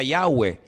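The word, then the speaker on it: Yahweh: yod he Bad hei verdad ese nombre se pronuncia yahwe Ese es el nombre que aparece en el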